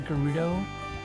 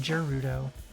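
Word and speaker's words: Gerudo: I always called the gudo um the ladies in the gudo desert I always called them Judo and then I heard it and I was like oh it's a hard G okay and moved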